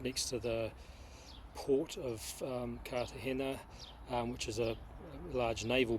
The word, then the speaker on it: Cartagena: Cartagena is the English pronunciation, but I believe it's supposed to be said Cartagena.